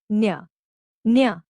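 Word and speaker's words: ञ: चा वर्गा वि इज न्य न्य इट is pronounced like the न्य इन the word canyon an example of इट्स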